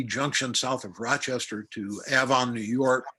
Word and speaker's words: Avon: south of rochester to avon new york looks like avon but it's avon take my word for it and we spun this